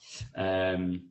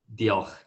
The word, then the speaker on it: Diolch: Diolch is thanks. No. What is it again? Diolch.